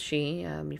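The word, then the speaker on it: Sidhe: the she s idhe and Celtic is pronounced she heard of banshee that's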